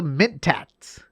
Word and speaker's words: Mentat: right now and today we're talking about the mint tax did they say it right you did say